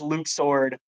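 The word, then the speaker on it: Luxord: uh Lux sword and the um I know it's supposedly pronounced Luke sword. I don't care. It's Lux sword.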